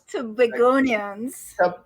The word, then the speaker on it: Tobagonians: Now, what do and let me make sure I say it right. Tobagoans? Tobagonians. Say it again.